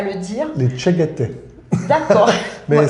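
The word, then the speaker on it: Tschäggättä: Les Tcheguete. D'accord. Mais voilà. Ça s'écrit avec pas des du A, tout comme ça se prononce. Avec des A, tréma, etc.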